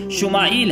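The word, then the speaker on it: ישמעאל: خوشخبری سنا دی گئی۔ عبرانی زبان میں اسماعیل کا تلفظ شمائیل ہے۔ شما کے معنی ہے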